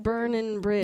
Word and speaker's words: Bern N Bridge: Burn like rock and roll. Burn and Bridge.